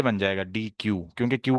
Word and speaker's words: deque: तो अगर मैं इसको यूं कर दूं ना, डी, ये बन जाएगा डी क्यू, क्योंकि क्यू के पूरे स्पेलिंग ये होते हैं, लेकिन अभी ये डी क्यू नहीं है, अभी ये डेक है, ठीक है।